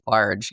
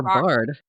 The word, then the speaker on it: barred: Oh, is it barge or bard? Bard like no holds barred.